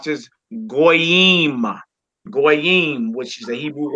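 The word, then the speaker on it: גוי: We got a wav with a dot, and we got a yod. We would pronounce that goy.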